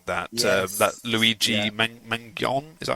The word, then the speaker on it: Mangione: Mangione, is that how you say his name?